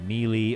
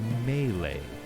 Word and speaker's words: melee: up in in uh mealy or i believe you're supposed to say melee i believe i'm saying